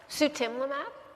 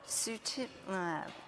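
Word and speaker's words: sutimlimab: it how do you say the drug sutimab sutimab okay as maintenance and not every other week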